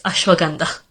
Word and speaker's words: ashwagandha: who's being corrected, like ashwagandha and Himalayas, it's Himalayas, and it's ashwagandha.